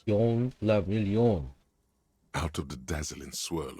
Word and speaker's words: Guillaume le Million: If it doesn't rhyme, you're not pronouncing it right. Yon la million.